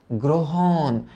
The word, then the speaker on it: গ্রহণ: গ্রহণ। গ্রহণ একটু আগে আমরা পড়ে আসছি যে আদ্য রফলা ও রূপে উচ্চারিত হয়। তাইলে এটার উচ্চারণ প্রথমত হবে গ্রো।